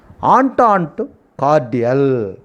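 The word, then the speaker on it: entente cordiale: Here the word pronounced S is a silent, E is a silent. Entente cordial. The pronunciation is entente cordial.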